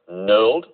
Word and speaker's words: knurled: seven milled filing k knurled with a silent casino k n u r l e d knurl let's have a look